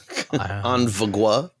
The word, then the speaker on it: En Vogue: You made me think that I mispronounced it. En Vogue? Nope. En Vogue.